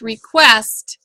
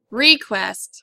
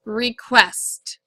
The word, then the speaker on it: request: you should have written divide here and the accent goes back here the word is pronounced request not request it's request the next word that